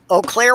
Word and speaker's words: Eau Claire: the seat of this eau claire wisconsin oh yeah he spell it with three vowels in a row and pronounce it with one that isn't there yeah i know